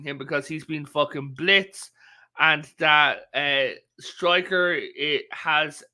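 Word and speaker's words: Blitzø: Luna, she hasn't been much in season 2, but in like she's the adopted daughter of Blitz, not Blitzo. The O is silent.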